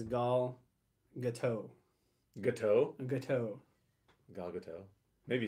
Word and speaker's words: Gadot: We still don't really know that officially, how to pronounce her name. I'm pretty sure it's Gadot.